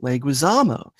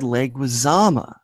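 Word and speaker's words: Leguizamo: five to five however Kinowski misspelled and mispronounced leguisamo he said leama Brienne misspelled it but she pronounced it correctly despite answering after killer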